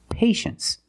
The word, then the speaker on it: patience: we pronounce it well you see t i e in the second syllable you know the t is pronounced sh sh so this word is patience that's right patience is